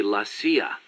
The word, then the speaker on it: CIA: Around here, they say La CIA instead of CIA, huh? Nothing strange about it. That's how it's pronounced when you read it in Spanish.